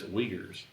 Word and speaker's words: Uyghurs: If life to you, it is a weird spelling. Phonetically, it's strange. When you said that, I just immediately thought of steak. Uyghurs is what it looks like, but it's Uyghurs.